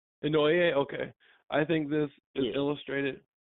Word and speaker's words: Inoue: Inoue? How you say it? Just pretty close to Noye, I think. Inoue?